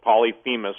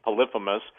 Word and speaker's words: Polyphemus: Some people pronounce it Polyphemus, but I believe it's Polyphemus.